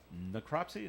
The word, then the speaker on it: necropsy: So maybe they'll do a necropsy. Is that how you pronounce Yeah, that?